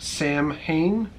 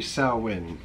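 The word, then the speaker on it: Samhain: It says Sam Hain is not pronounced Sam Hain. It is pronounced sow, as in you can't make a silk purse out of a sow's ear.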